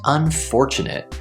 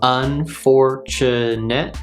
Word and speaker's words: unfortunate: this word is pronounced unfortunate unfortunate we have four syllables unfortunate and the stress is on the second syllable so we get unfortunate